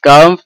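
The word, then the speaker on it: calm: the environment of the Madrasa is কারভ and nice which হেলপস us study will অর্থাৎ মাদ্রাসার পরিবেশ শান্ত ঠিক আছে এটার উচ্চারণ হচ্ছে কার ঠিক আছে এটার অর্থ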